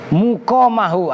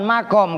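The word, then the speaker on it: مُقَامَهُ: ilaihi mudhof ilaih, ditempatkan muqamahu, awas. Itu sebelumnya ukima, jadi bacanya mukom, harokatin. Muqamahu, bukan makom.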